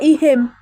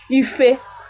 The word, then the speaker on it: ihe: This ihe could also come in ife.